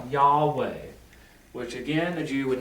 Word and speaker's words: Yahweh: scholars believe that historically in ancient hebrew the letter valve was a w in a sense so in ancient hebrew it would be pronounced yahweh which again the jew